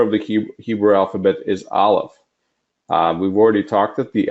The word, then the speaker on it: Aleph: if you notice that there is no sound underneath Aleph, because Aleph makes no sound. It is a silent letter.